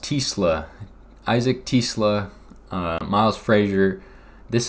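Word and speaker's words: TeSlaa: Isaac, I believe it's pronounced Tisla.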